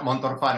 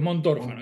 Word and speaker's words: Montorfano: enganché No, no, pero es Montorfano, es mirá, largo, es Montorfano. Montor, es Montorfano, es una ciudad que hay en Italia, Montorfano.